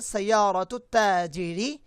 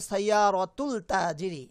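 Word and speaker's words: سيارةُ التاجرِ: সাইয়ারাতুত তাজিরি, সাইয়ারাতুত তাজিরি জামিলাতুন। অনেকেই ভুল করে বলতে পারে সাইয়ারাতুল তাজিরি, না। কিছু কিছু হরফের শুরুতে আলিফ লাম যুক্ত হলে সেই আলিফ লামটার প্রোনাউন্স হয় না।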